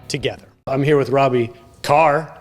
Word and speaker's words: Kerr: So you were making sure to tell me ahead of time, Robby, that it looks like Kerr. It's Kerr, but it's pronounced Kerr.